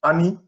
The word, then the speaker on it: Ani: she is comfortable uh in europe they usually pronounce with my first i mean first three letters of my name ani and i'm comfortable with